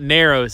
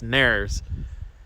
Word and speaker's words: Narrows: pokey and uh from nars virginia as as ed likes to say he's probably in his library right now laughing at me and my pronunciation of that but it's not narrows it's nerves uh he grew up